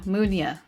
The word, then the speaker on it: Munia: I always say this wrong. Munia. Munia. That's how you say it. Okay. I always want to pronounce the Mew part.